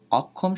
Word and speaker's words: অক্ষম: অক্ষম শব্দে শব্দের মাঝখানে থাকায় কয় হসন্ত ক্ষয় ওকারের মতো উচ্চারিত হয়।